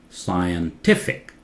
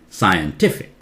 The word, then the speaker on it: scientific: Here the accent changes to a different syllable. Tif. Scientific. Scientific.